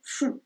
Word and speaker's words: font: Y al final se dice il font. Entonces otra vez no se pronuncia la T al final.